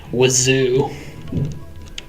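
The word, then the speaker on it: oiseau: Reminds me of bird, which is spelled like oisix, but pronounced wazoo.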